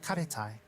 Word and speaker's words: Karetai: Karetai is because of the ate, karetai, the phonetic sound.